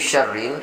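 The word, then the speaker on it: شَرِّ: kita membacanya di MIN syarril ini sering esnya ini es biasa Padahal di sini khasnya kalau di Indonesia tulisannya kysya Syah Syah Syah bukan es biasa tapi kalau was-was in1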